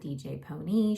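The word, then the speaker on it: DJ Pon-3: I know it says DJ Pawn 3, but they pronounce it DJ Pony.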